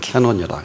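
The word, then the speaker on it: canon: 우리의 모든 창조의 비밀은 우리의 눈은 놀랍게도 그 기준이 헬라어로 우리가 카논이라 그럽니다. 영어 발음은 캐논이라 그러죠.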